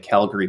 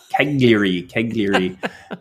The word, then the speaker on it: Cagliari: I joke that it sounds to my Canadian ears like Calgary, but of course it's not. It's Cagliari. And it is the biggest city on Sardinia.